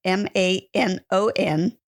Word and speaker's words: Manon: name come from so it is a French name and the reason that it tends to be difficult for many is that the N is silent and it's not a sound that is learned in the English language so it's Mano I often say it's Mano with the O at the end that's great I love